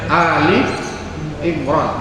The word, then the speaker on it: Ali Imran: dilihat lagi dari Surah Ali Imron ayat 18 jadi bacanya Ali Imran bukan sebagai al-baqarah al-kahfi karena ahli keluarganya Bapak imroh hal ini Al keluarga